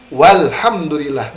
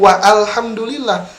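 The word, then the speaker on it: والحمد لله: ahlinya tidak akan dibaca Jadi bagaimana bacanya walhamdulillah bukan wa Alhamdulillah tetapi walhamdulillah demikian Bapak safrizal mudah-mudahan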